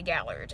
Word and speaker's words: Gaillard: And the English pronunciation, I'm sure, is going to be Gallard. And I looked at it and I thought to myself, I thought, that name looks French.